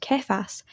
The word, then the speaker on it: Kephas: However, he later became known as Peter after being named so by Jesus, which in Aramaic is pronounced Kephas, and apparently somehow in Greek this becomes Petros.